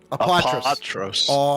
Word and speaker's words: Apatros: Apatros. So the A is pronounced as it's a long A.